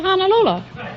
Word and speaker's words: Honolulu: Well, he said, "How would you like to see the sights of Honolulu?" They pronounce it honolulu over there when I was there.